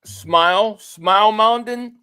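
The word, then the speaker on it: Smael Mondon: You get Small Mondin. It's pronounced what? Smile Mondin.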